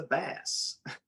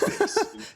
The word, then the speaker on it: bass: And my mom said, "What's the bass?" And I'm like, it's bass, Mom. It's pronounced bass.